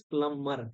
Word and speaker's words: plumber: say plumber plumber but it is the real pronunciation is plumber plumber be silent shakam shakam we used to